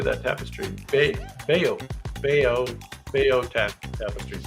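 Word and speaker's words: Bayeux: Beao. Beao. Beao. Tap tapestry. B A Y E U X. Beo tapestry.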